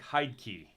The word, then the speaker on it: Heidtke: yeah all different versions it's h-e-i-d and i would think hide key yeah but they say it